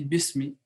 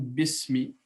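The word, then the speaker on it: بسم: bi et semis et on dit besmi parce que le halal est mort sous là c'est à dire que lorsque l'être s'attache à ce nom alors la leaf disparaît donc on prononce comme besmi donc et ça signifie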